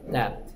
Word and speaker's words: debt: 발음이 좀 어렵죠. debt.